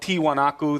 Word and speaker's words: Tiwanaku: confuses people because the whole site is called tiwanaku that's the native word for it but this the Spanish the Spanish pronunciation of that was more like Tiahuanaco so Tiahuanaco became the